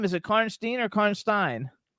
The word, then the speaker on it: Karnstein: Yeah, Karnstein.